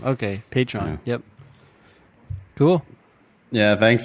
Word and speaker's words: Patreon: Patron. Oh, did I say it right? Yeah, she misspelled it. She didn't put Patron. Oh, anyway. oh yeah. Patreon is the name of the platform. Yeah. Okay, Patreon.